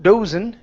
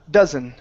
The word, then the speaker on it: dozen: the word dozen here instead of do dozen it's du dozen dozen okay very nice uh